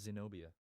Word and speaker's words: Zenobia: yeah her name is Zenobia yeah her name is sino Pia it's actually a really cool name it sounds like xenophobia just with like some syllables cut out are you gonna like